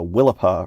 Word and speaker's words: Willapa: It's right on the, banks of I gotta say it right now, the Willapa River, which I've been mispronouncing for my entire life.